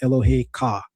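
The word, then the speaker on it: אֱלֹהֶיךָ: That's the Hebrew word for your God, Elohe Ka.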